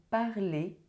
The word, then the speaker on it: parlez: Je parle, tu parles, il parle, elle parle, on parle, nous parlons, vous parlez, il parle, elle parle.